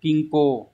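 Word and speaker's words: 均衡: Từ này đọc là kinko.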